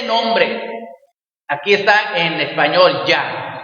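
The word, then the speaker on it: Yahweh: está en español ya en hebreo es la yud y la ge que se pronuncia ya Okay aquí en español lo ponen como Ja como una J no es con una J es una yud y una ge es decir suena ya Okay entonces quiere decir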